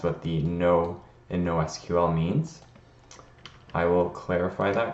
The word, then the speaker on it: SQL: might say it's pronounced sequel I personally prefer SQL because it is an acronym SQL stands for standard